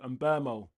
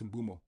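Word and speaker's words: Mbeumo: And Bumo's the only, and like, it's when the commentators say Mbermo. Bro's come out, yeah, and Bumo's come out twice now saying, how do you pronounce my name? It's Mbumo. He said it twice, Mbumo. And all these commentators are, Mbermo. Bro, his name's Mbumo.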